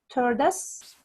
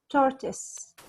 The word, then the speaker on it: tortoise: tortoise and hare correctly we have two ways to pronounce Chartists one of them in the American accent which is turdus serverless toward us and the other one is in the British accent which is tortoise tortoise tortoise you can check both